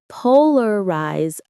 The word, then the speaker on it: polarize: Polarize opinion. The stress is on the first syllable of polarize and the second of opinion.